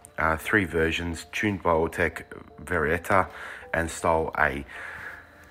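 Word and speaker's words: Varietta: 20 det next is the varieta or very yeah varieta i guess is how you pronounce that uh this was a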